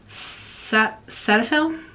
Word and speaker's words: Cetaphil: Right now for my face, I'm using a little bottle of this Cetaphil, that's how you say it, because I just